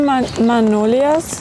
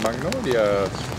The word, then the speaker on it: magnolias: followers so these are manolas ah Magnolias is it Magnolias or manolas you pronounce the G there's some of the